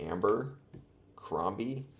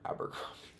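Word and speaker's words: Abercrombie: Is it literally Amber Crombi? Abberrombie. It's not Amber. Abberrombie.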